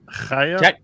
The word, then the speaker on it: Chaya: It's pronounced Chaya. I'm going to get Chaya. Chaya. Get it from the back of your throat.